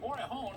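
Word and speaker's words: Morejón: By the way, it's pronounced Morejon. I just thought it was Morejon all this time. Didn't realize that he was Hispanic, so screw that up.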